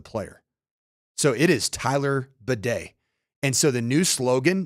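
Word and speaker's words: Badie: it is it is in the Broncos official pronunciation guide as Batty B A Y hyen de on the pronunciation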